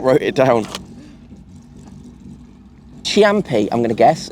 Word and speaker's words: Ciampi: Ciampi, I'm going to guess. It's Ciampi. Ciampi? Ciampi. Ciampi.